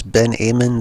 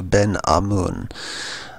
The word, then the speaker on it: Ben Amun: A lot of people pronounce this as Ben Amun. That would be incorrect. It's Ben A-H. if you were spelling it out, it would be A-H hyphen M-O-O-N. So Ben Amun.